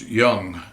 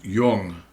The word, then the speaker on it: Jung: It's not pronounced Yung, it's pronounced Yung.